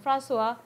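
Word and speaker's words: François: Far from being lost or oppressed by the lofty peaks, he is, in Francois, and you pronounce it that way, guys, Francois Cheng's wonderful expression, the eye of the landscape.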